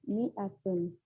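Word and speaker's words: مائة: that in the atom the aleph is not pronounced it is pronounced mi atom in certain countries it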